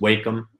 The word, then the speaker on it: Wacom: I use a uh I think it's pronounced Wacom uh tablet okay yeah and